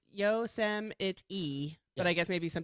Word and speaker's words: Yosemite: I guess it's Yosemite. But I guess maybe some people say Yosemite.